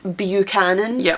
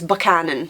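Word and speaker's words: Buchanan: banan the name is lots of people will pronounce it bucanan which is wrong it's banan mhm so that's reference for that one but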